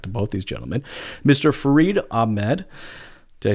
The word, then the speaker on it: Farid Ahmad: Farid Ahmad.